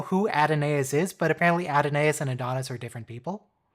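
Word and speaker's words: Adonais: who Mourns for Adonis adenaeus oh is that how you say it it looks like it should be Adonis but there is a sneaky a in there oh thank you I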